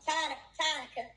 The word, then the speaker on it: Tanika: It's Tanika. I'm sorry. It's God, I Tanika. had it all wrong. Tonica. It looks like Monica with a T, so I get it.